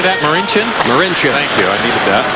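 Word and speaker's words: Marinčin: Marincin.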